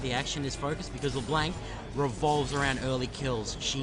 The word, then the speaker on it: LeBlanc: And Floating Toxins is LeBlanc. Yeah. Well, you did good on the LeBlanc pronunciation. I've heard some people say LeBlancy. I was like, what the hell?